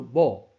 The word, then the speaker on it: 馬: 首先，关键的发现，马爱读作某，原上骑马，说不定我的妻子已经死了。